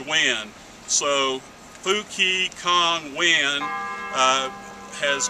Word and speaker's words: Nguyen: Kong common name Bill last name Nguyen pronounced when so Fuki Kong win